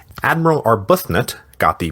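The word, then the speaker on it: Arbuthnot: Admiral Arbutnut, got the pronunciation now, too, was 68 years old, not 86.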